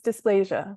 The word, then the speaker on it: dysplasia: having hip dysplasia dysplasia how do you say that word it's dysplasia yeah hip displasia hip